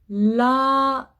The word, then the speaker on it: l'adresse: Si il y a double S, je prononce toujours S.